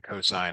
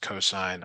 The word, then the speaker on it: cosine: over and over again cosine not not cos even though it's cos it's pronounced cosine I don't make the